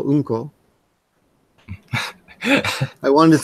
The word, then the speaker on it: Unko: The difference is one syllable. Anko, which is red beans, and Unko, which is shit.